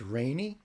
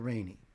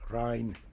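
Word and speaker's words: Reine: It's Rainy? That's how you say that? Oh, okay. Pavolia Rainy. And is her nickname Rainy? For pronunciation. Gotcha, Rainy. Okay. I was thinking more of the German, you know? Rhein.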